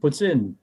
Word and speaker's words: poutine: Poutine. Exactly. For whatever reason, there's a bunch of Quebecois, they throw in an S sound after a T.